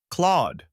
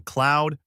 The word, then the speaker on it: Claude: Put it all together. Claude. Avoid common slips like saying cloud, Claude, or Claude. Aim for a single, smooth beat.